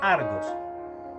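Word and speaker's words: ἀργός: nosotros decimos palabra ociosa, se pronuncia argos, que se compone de la letra a, que significa sin, y ergón, que significa trabajo, acción.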